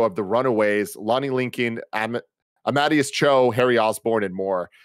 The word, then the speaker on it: Amadeus: the runaways lonnie lincoln amadius cho harry osborne and more except before captain america civil war amadeus is how you say it yeah yeah i'm at